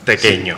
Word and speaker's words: tequeño: cumpleaños, nunca falta un tequeño. Pequeño. Y el papel en Facebook no tiene el ñ. No, y por eso al principio había que tratar de pronunciar, o sea, tequeño.